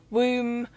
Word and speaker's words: womb: not pronounce the B it's a silent B so it's thumb womb what else would I say